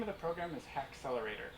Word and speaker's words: Haxlr8r: of the program is ha accelerator it's spelled weird it's h ax lr8 r and the goal is